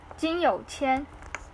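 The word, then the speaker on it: 金有谦: So his Chinese name is Jin Youqian. Yeah, sometimes people get mistaken his name as You Qian, which means like have a lot of money.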